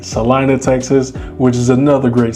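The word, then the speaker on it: Celina: And some people say Selena. It's not Selena. It's pronounced Salina, Texas. C E L I N A. Salina, Texas, which is another great city here in the Dallas Fort Worth metro.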